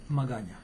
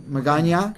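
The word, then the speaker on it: Magaña: how do you say your last name Magana McGann Magana correct okay we left a little thing off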